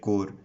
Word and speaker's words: Corps: is NCC itself NCC stands for National Cadet Corps as you can see on the screen it